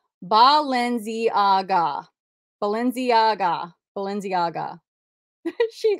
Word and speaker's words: Balenciaga: okay these vintage oversized women's uh sunglasses Felicia b-a-l-e-n-c-i-a-g-a I don't know what that I don't even